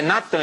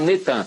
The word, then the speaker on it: Natan: No dia 4 de novembro de 2002, lança o nome do ex-primeiro-ministro de Al-Shorur de Israel, Natan, é Natan, eles já fizeram o sincretismo, botaram Netan, mas é Natan Yarro.